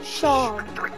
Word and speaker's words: Seam: The name is Seam. Pronounced Sean.